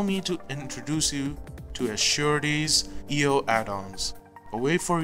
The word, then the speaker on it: Sappheiros: Also, Sappheiros is the correct way to pronounce her name, for those of you who don't know.